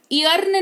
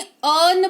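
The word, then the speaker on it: earn: ईयर्न नहीं अर्न पढ़ेंगे, जिसका मतलब होता है कमाना।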